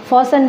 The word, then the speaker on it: fasten: close the door and fasten the latch. Close the door and fasten the latch. Latch means தாழ்பால என்ன சொல்லுவோம் அப்படின்னா latch. Fasten, FASTEN, fasten. T is silent here.